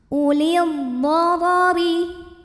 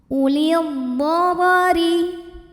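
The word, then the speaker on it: أولي الضرر: Ulil dharari. Huruf ra dibunyikan secara tarqiq sebab ra berbaris kasrah, maka huruf ra bacanya tipis, ringan. Ulil dharari wal.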